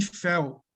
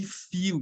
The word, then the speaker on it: feel: instead of spread joy let me fail healing should be let me feel the healing feel it's not failed though memorize always remember